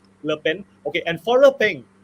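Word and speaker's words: Le Pen: governance okay and foreign how do we pronounce the name correctly collectly lipping lepen okay and for her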